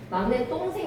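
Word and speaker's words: 막냇동생: 막내라는 수놀이말과 동생이라는 수놀이말이 만나서 막내 똥생 되는 거죠. 똥생 똥생 똥생 그래서 똥생이기 때문에 사이 좋을 받쳐 줘야 돼. 뒷말의 예사 소리가 된 소리로 발음이 나기 때문에 괜찮.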